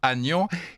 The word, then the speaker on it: Aignan: Et cette branche-là était d'Orléans, dont le saint patron est Saint-Aignan, qu'on prononce Agnan, et vous avez une